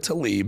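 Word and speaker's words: Tlaib: Rashida Talib may have t, you'll understand why I said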